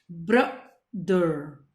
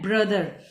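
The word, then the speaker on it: brother: इट्स नॉट ब्रदर. कई बच्चे बोलते हैं ब्रोदर इज नॉट a correct pronunciation, it's a wrong pronunciation. आपको बोलना है ब्रदर.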